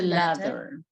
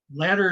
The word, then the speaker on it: ladder: ladder? Is the second one. What's the first one? Letter. Later. Letter. Uh-huh. And by the way, the TT and the DD are going to sound exactly the same.